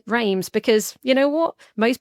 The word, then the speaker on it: Reims: No, remembering when you say something, spell it. When you say something, say it clearly. You didn't say as, you said Reims, because you know what?